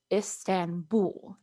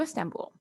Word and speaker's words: Istanbul: up there for you in english we would say istanbul that b-u-l we get the oo sound so istanbul and all i put